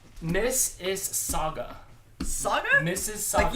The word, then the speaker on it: Mississauga: Miss is Saga. Saga? Mrs. Saga. You don't pronounce the U at all? Miss is Saga. S-A-U-G-A. Saga. But SAGA would be It's soggy like- just as well.